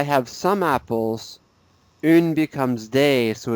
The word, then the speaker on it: des: So that's a in the singular form, but in the plural, okay, un and une both become des, day. Repeat, day. Des.